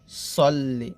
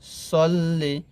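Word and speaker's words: صَلِّ: আল্লাহুম্মা হুম্মা সদ লাম জবর সদ লাম জের সল্লি আমরা এখানে অনেকে বলি সাল্লি বলি এখানে যে সদের উচ্চারণটা সিনের মত করে ফেলি তো এখানে যে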